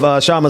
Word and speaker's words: Kshama: I'm still riding off of Kshama Sawant, and that was good. I'm gonna learn how to pronounce people's names going forward before I bring them on the show. So I apologize. That K is silent.